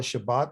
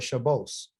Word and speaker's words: Shabbat: They changed, they don't call it Shabbat, they call it Shabos. They put an S sound on the end.